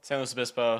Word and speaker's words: San Luis Obispo: San Luis Obispo? San Luis Obispo, slow, yeah, whatever. Okay, slow. Slow's like the... Slow's like, it's what everyone calls it down there just because San Luis Obispo is a mouthful.